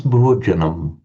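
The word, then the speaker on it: bhojanaṃ: Also, the way you pronounce, how do you pronounce Bhojanam? Bhojanam. Okay, But I see the dot below the M. So bhojanam. Okay, right.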